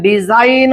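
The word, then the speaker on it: design: असेल तर अशा वेळेस जी कसा असतो सायलेंट असतो या ठिकाणी आपण डिझाईन म्हणत असतो डिझाईन वाचत असतो बरोबर की नाही योग्य प्रोनन्सिएशन आपण ह्या पद्धतीने करत असतो हे नियम आपल्याला माहिती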